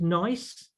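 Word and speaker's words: gneiss: a really nice one this next one is nice and and that's how you pronounce this uh gne iws um it's uh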